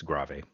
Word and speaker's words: grave: grave yeah i know it looks like it should be pronounced grave but it is italian it's gravy allegro that's a good